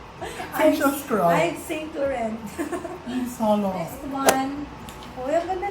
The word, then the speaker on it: Yves Saint Laurent: So that is This one is Yves Saint Laurent. E. Saint Saint Laurent. Laurent. So silent T yung dulo.